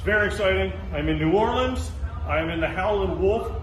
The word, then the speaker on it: New Orleans: You said it right the first time. Damn it. You said New Orleans, you nailed it.